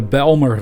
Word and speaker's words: Bijlmer: be the balmer disaster although i can imagine americans might pronounce the words of belmer differently than i do because they might have no idea how to pronounce it dutch works right there's